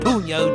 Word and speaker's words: punyo: In Tagalog, puno pronounced puno generally means the butt or base of something like the end of a stick or the base of a plant.